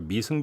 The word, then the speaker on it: 미승: 그러니까 미승 빌딩이죠, 미승 빌딩. 미성 빌딩 예. 발음이 제가 미성 이렇게 했는데 사투리 발음입니다.